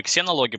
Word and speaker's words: ксенология: Значит, сначала мы немножко подискутировали на тему того, как правильно зенология или ксенология, потому что, ну, это касаемо английского языка, потому что в английском языке читается ксе, вот это читается как з. Вот, мы это берем непосредственно из греческого языка, для нас это ксенология, ксенос, чужеродный. Вот. Для англичан, соответственно, там звук «з».